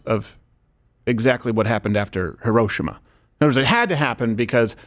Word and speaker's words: Hiroshima: way I say it I think uh Hiroshima is how you say it in a British accent oh okay um hirosima you know how they like to make it but Hiroshima sounds